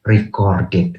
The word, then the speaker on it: recorded: Kalau ini sebagai noun bacanya racket, tetapi kalau sebagai verb bacanya recorded gitu.